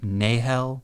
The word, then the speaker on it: Nahel: with no other information, I would probably say Nahel. Kind of like the Sahel Desert. Yeah. Or Nahel might also work. You can just sort of swallow the H and say Nahel.